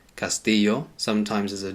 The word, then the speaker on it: castillo: is a castle now the Double L in Spanish it sometimes pronounced as a y Castillo sometimes as a J castill in artina they pronounce it as castio but it's never a